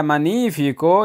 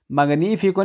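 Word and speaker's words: magnifico: आगे जी ए मनीफिको ये शानदार है। ये लफ्ज़ है इसमें जी ये साइलेंट है, ठीक है। मगनीफिको नहीं बोल देना, ये लफ्ज़ है ए मनीफिको ये शानदार है, ठीक है।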